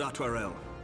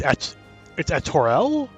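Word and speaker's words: Artoirel: is most welcome Lord artware to Arms then friends I've been pronouncing it wrong it's at Torell oh no God damn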